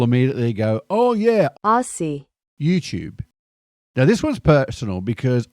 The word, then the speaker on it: YouTube: YouTube. Now this one's personal because I'm losing this battle with my own house. It's YouTube, like a tube, a cylinder.